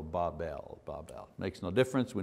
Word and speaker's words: Babel: it you know and the phonetics say the pronunciation should be BA w ve L so Bob L Bob makes no difference